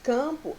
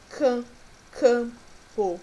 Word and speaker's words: campo: Quando nós pronunciamos campo, é como se nós tivéssemos apenas um A acentuado, campo, ok? É como se não existisse esse M aqui na palavra, mas sim, né, um acento no A para dar mais intensidade.